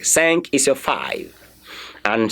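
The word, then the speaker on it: cinq: spell s e n k you can get sank can't you see it saying there okay but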